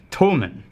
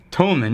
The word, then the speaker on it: Tomatin: a t om ATI in this is actually pronounced Tolman Tolman it's a Highland Scotch single malt from Inverness